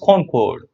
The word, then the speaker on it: concord: you see this word con chord it's actually pronounced con chord con chord it just means agreement the word